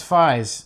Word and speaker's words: Faiz: Faiz is made from sort of a forced pronunciation of the numeral 5 3 times. So it's I thought it was like German or something. No. It's like fives. Oh, okay. Like three, like the number 5 3 times.